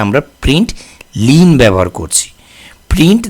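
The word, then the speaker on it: println: এখানে আমরা লিখেছি প্রিন্ট এটা কিন্তু আইন না এটা হচ্ছে এলেন প্রিন্ট লিন এল এন তো উচ্চারণের সময় অনেক সময় ভুল হয় আমরা প্রিন্ট ইন বলি বাট এটা নট আই এন এটা হচ্ছে এল এন প্রিন্ট লিন ওকে এটা মনে রাখবেন সবসময়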